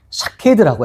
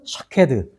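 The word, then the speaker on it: שָׁקֵד: 발음이 비슷해요. 그래서 여기 가지가 이제 샤케드라고 해요. 근데 나중에 보면 내가 지켜라는 말씀이 나옵니다. 어떤 부분이냐면 12절에 내 말을 지켜라고 나오죠. 이때 부분이 지켜는 샤카드입니다. 가지는 살구나무는 샤케드, 지켜는 샤카드.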